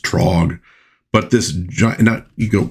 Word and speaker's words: Throg: Well, she soon enters into combat against Throg. I think it actually maybe would be pronounced Trog, but this gi you go, he's a dwarf.